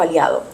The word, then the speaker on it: Aliado: Banco Aliado. Another bank, but this How would bank... you spell that? Aliado. So bank, Yeah. Aliado, Aliado. Okay. Like alliance in a sense. Aliado, alliance. Yeah.